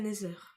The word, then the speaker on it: Nether: vous allez me dire ta prononciation elle est nulle et tout ça c'est Nether ne Nether oui parce que ne oui non c'est pas la même chose c'est Nether donc sûrement qu'on ira dans